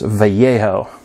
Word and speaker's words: Vallejo: that it matters but the Double L Sound in Spanish guys is pronounced like a y um but I'm not trying to correct anything anybody so it's vejo but everybody please pronounce